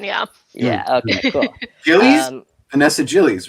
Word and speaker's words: Gilles: I think it's Gilles without the S for the French pronunciation. Yeah. Yeah. Okay. Cool. Gilles, Vanessa Gilles, right?